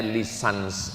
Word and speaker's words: licence: Bahasa bahasa Inggris cara membacanya lisans artinya ijazah.